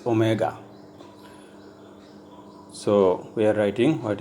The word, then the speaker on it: omega: small letter W and it is pronounced as Omega so we are writing